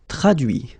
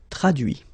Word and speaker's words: traduit: Traduire, traduit. Okay, so the same rule, because, well, basically it's the same group, and then same rule, final T not pronounced, so introduit, produit, réduit, séduit, traduit.